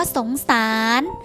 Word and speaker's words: สงสาร: หนู เช่น กัน ค่ะ คำ ว่า สงสาร นะ คะ รอ เรือ เป็น ตัว สะกด ค่า แต่ ออก เสียง เป็น พยัญชนะ ตัว นอน หนู เช่น กัน ค่ะ คำ ว่า วิญญาณ นะ